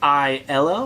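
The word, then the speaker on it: IELLO: of people pronounce it i ello which is fine but it's a french company and in france i believe they pronounce it yellow so anyways i have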